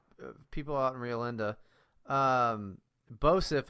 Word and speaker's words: Boseph: Also, for the fucking people out in Rio Linda, Bosif is BOSEPH. Yes. It's spelled like it's pronounced.